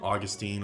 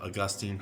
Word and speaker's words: Augustine: I'm learning a lot about Saint Augustine or Augustine, however you want to pronounce it. I've found that people pronounce it both ways.